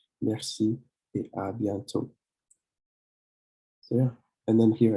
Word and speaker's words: à bientôt: Then you have à bientôt. À bientôt. This accent mark doesn't really change the sound of the O here, but it's à bientôt. À bientôt. And don't pronounce the last T.